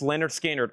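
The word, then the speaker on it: Lynyrd Skynyrd: Pronounced Leonard Skinnard artwork.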